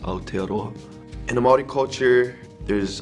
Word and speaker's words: Aotearoa: New Zealand or in their native tongue it's pronounced aotearoa in a Maori culture there's a lot of